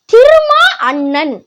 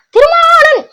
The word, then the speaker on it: திருமா அண்ணன்: ஒழுங்காவே உச்சரிக்க மாட்டார் போல திருமா அண்ணன் அப்படின்னு தெளிவா உச்சரிக்கணும் இது என்ன திருமாணன் திருமாணன் திருமானன்னு ஒரு பேர் இல்ல ஆனா திருமா அண்ணன் அப்படிதான் சொல்லணும் நீங்க தெளிவா உச்சரிக்க மாட்றீங்க எல்லா வார்த்தையிலும் ஒரு வார்த்தை விட்டுறது.